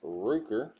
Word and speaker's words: Rooker: red white and blue brent ruker or rooker howard's pronounced probably rooker josh fleming next hit